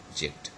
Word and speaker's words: object: have got object okay so this is a word and the stress falls on the first syllable okay instead of object so here it is